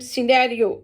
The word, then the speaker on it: scenario: Scenario. C is silent.